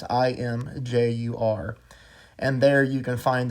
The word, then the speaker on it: Imgur: on a site called, I think it's pronounced Imgur. I don't know. It's Imjur.